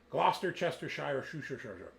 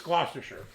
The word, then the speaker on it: Gloucestershire: they're from Cheltenham in Gloucester chestershire um so is that how you pronounce it no I don't think so okay I think it's gloucestershire right but it's it's